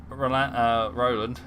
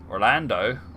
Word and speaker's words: Orlando: Oh, not Roland. Orlando. Oh man, I've been saying his name wrong.